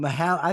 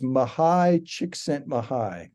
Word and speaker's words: Csikszentmihalyi: How did you pronounce the name? I've seen the name on Mahal. I thought it was Mahali, Mahali.